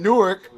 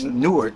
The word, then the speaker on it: Newark: Like when I was in Newark, they used to tell me it's Newark. I'm like, Newark? Like, y'all niggas can't read? That's Newark. They're like, no, it's Newark.